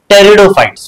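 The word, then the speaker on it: Pteridophytes: और तीसरा क्या है टेरिडोफाइट्स पीस साइलेंट है क्या टेरिडोफाइट्स टेरिडोफाइट्स मतलब क्या है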